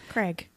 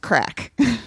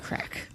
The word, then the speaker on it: craic: r a i c Craig it's actually pronounced crack crack spell it again c